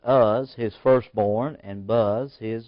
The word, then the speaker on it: Huz: Huz, or we pronounce it Uz, his firstborn, and Buz, his brother.